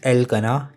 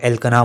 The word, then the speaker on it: Elkanah: तो my true name is एलकना, ELKANAH। कैसे भी आप लोग इसको प्रोनाउंस कर सकते हो। काफ़ी लोग एलकना बोलेंगे, काफ़ी लोग एलकाना बोलेंगे।